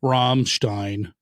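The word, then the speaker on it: Rammstein: Romstein. Okay. So the Stein and Stein. So if it's I E, you pronounce the E sound. If it's EI, you pronounce the I sound.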